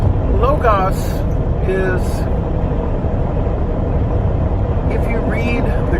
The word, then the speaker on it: Logos: some logos Americana or the correct way to pronounce it locus is if you read